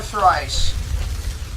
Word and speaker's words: thrice: I did it not once, but twice or thrice. Thrice just basically means 3 times. It rhymes with twice.